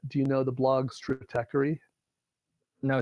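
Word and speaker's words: Stratechery: same thing but do you know the blogs trickery now say that again it's a goofy name and it's spelled Stra te CH ER y dot com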